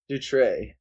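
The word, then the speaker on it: Dutrait: the art by Vincent Dut. Yes, I think that's the T is silent. I'm not sure. It's would be silent. It's a French game. They're French.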